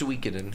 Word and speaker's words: Suikoden: But like, it's pronounced Suikoden. Suikoden.